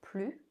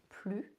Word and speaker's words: plus: understand between je fume plus and je fume plus. Je veux plus de café. Je veux plus de café. What's the difference when we pronounce the S or not?